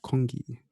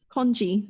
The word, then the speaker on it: congee: And she said that the one rice dish that never fails to remind them of home is congee. Congee, sorry. Congee. The Chinese I in me.